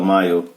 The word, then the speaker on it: mile: Olha a palavra mile. Vamos falar dela, mile. Tem duas regras. Nós já aprendemos que o L é o E é mudo. E o I com E é I, então ficou mile.